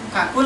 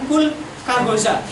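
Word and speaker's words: كقولك: Harusnya adalah kakul goza, gitu ya. Artinya adalah seperti ketika kamu mengucapkan goza, gitu ya. Bukan kul kagoza. Karena nanti kalau diucapkan kul kagoza berarti kafnya masuk ke dalam bina nakis. Sedangkan kaf di sini bukan termasuk bagian contoh dari bina nakis.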